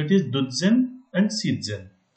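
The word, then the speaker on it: siezen: Because Z का pronunciation तज करके होता है, टी जेड करके होता है. सो इट इज डुज़न and season.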